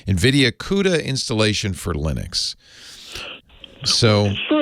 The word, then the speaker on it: Linux: he pronounces my name is i pronounce lenox linux that was for a long time linux came